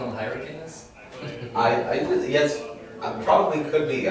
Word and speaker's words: Hyrcanus: I will spell it, and I will say it different than Mike does. And anytime you hear anyone talk about them, they will pronounce it different. I say Hyrcanus, or what do I say? Hyrcanus. That's what I learned. Mike will call them Hyrcanus. It depends on where you're from in the world, I suppose.